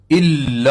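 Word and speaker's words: إلا: جو کہ غلط ہے۔ الا اللہ، الا پر شد ہے۔ کچھ لوگ اللہ پڑھتے ہیں۔ محمد، اس میں بہت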